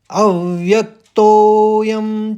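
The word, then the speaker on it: अव्यक्तोऽयम्: देखिए अव फिर व्यक आघात देते हुए अव व्यक तो और तो को ज्यादा खींचेंगे क्योंकि अवग्रह है आप समझ रहे हैं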